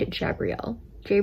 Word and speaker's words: Jabrielle: Ask him about a girl named Jabrielle. Jabrielle? It's spelled like Gabrielle, but with a J.